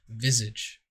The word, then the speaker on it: visage: the pronunciation on google and that's how they pronounced it visage whatever french is cooler canadians are cooler have